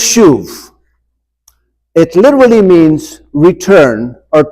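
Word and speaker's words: שוב: the Hebrew word that is used here it's pronounced shuv. That's the Hebrew word. And I can tell from your face, you're all saying, oh, now it makes sense. Okay? It's pronounced shuv.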